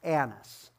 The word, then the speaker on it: Annas: priest annis and as you're reading it is pronounced annas i just thought i'd help you with some